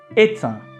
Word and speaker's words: est un: Parler est un. Could you hear? Est un. Here you need to make the liaison.